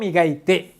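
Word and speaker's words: 磨いて: কি থাকলে কি হয়, ইতে, তাহলে কি হচ্ছে, উচ্চারণটা কি হবে স্যার? আপনি বলেন কি হবে, মিগাইতে।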